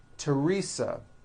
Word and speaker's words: Teresa: like to point out although these next words and names are spelled with a th they are pronounced as if they were spelled with a normal t t like that and